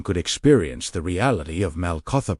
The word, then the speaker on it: Malkutha: He knew that before a person could experience the reality of MALKUTHA, pronounced MALKUTHA, meaning God's divine reign, they first had to recognize which kingdom was already ruling their thoughts.